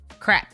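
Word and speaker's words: crêpe: And the S is silent, so it's perfect. Crepe.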